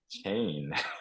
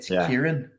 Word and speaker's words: Kieran: I would have just sort of said chain, I guess. Yeah, is it a ch sound at the beginning? Everyone thinks it's a ch, but it's a k. It should be a k. So it's Kieran.